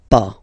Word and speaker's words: pas: Okay, so first ne, then the verb, and after that, pas. Okay, we write it PAS, okay, but as usual, final S is not pronounced, so it's pas.